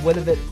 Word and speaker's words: Willamette: This is from Willamette Valley, Oregon.